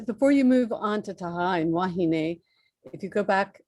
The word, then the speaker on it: Taha'a: we say Moorea, but it's actually Moorea and Taha'a.